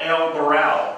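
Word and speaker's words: El Varal: to a place called el baral the B the V is pronounced the B El baral and now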